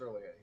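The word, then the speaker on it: R'lyeh: It's not pronounced Ryla, it's pronounced early A. The R has a weird sound.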